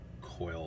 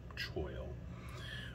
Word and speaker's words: choil: gonna call it um i think i call it uh coil a lot but it's i think technically choke choil um i'm not a